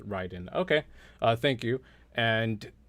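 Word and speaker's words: Raiden: ocelot in metal gear it's pronounced ryden okay uh thank you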